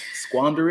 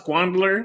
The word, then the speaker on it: squander: You said I was squandler. It's like Squander it. you put an L in there.